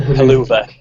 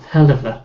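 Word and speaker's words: Helluva: I don't know the way Michael Cole pronounces it. The Haluva. Well, they all do. It's really annoying. It's a hell of a kick. They've completely missed the point of what it's called by the sound of it.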